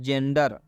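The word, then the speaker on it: gender: क्योंकि स्पष्ट यहाँ पर रूल में बता दिया गया है कि जब जी के साथ ई जुड़ता है तो जी ई का उच्चारण ज हो जाता है।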